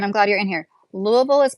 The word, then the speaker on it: Louisville: Louisville is pronounced lou.